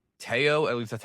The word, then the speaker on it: Teo: And yes, it is pronounced Teao. At least that's how they pronounced it in the trailer. Not Teo like Leo.